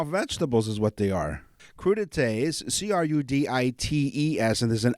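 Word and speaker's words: crudités: chomp on those into what crudites is how it's pronounced oh boy cuda taste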